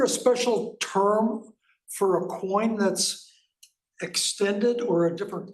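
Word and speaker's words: quoins: Coin is the term you would use. Okay. And it's spelled Q-U-I-O-N-S, not coin like money in your pocket.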